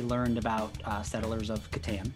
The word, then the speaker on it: Catan: about uh settlers of katan which is how i say it like chris katan some people say catan i don't know how